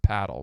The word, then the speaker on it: Padel: Padell. Can you spell it? P A D E L. Now some people purists will say it's pronounced paddle.